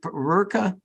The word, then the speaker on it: Rurka: Rurka? Yeah, it's Rurka. I still have a hard time pronouncing it, but yeah.